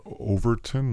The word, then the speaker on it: Overton: off for you guys it's uh Overton like the word over at ton over 10 window uh it was